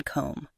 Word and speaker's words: comb: English has many words with silent letters, like a K in knife, a T in listen, a B in comb. Learners often pronounce these letters, which sounds strange to native speakers.